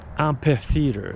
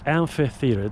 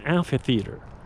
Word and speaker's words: amphitheater: Most people in North America say amphitheater. It's amphitheater. There's an F as in Frank sound. PH produces the sound F. F as in Frank. It's not an amphitheater. It's an amphitheater.